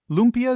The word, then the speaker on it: lumpia: those are um is do I have the pronunciation of this right uh loia loompia is that right yeah yeah tell yes correct